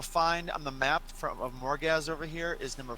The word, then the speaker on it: Morgazh: on the map of Morgazh over here is number 4. So that is currently where we are. Probably one of the tallest mountains It's- in Morgazh. It's Morgazh and not Morgasm.